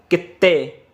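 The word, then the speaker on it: きって: ये तो हमने इसे प्रोनाउंस करा था, जैसा कि दो इकट्ठे आ जाते हैं तो वहाँ पे जोर लगा के बोलना है आपको, कित्ते।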